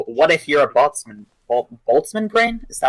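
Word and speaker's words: Boltzmann: the extra of what if you're a bman boltzman brain is that how it's pronounced yeah boltman brain you can't do anything about that yeah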